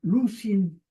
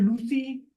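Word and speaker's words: λύουσιν: En vez de decir lucy, dicen lucin, se apoyan ahí en la pronunciación con una nu movible.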